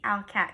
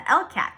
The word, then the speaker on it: ALCAT: is how it's spelled it's the owlcat test the first time someone told me about it i thought it was the lcat just the letter l so alocat and what it does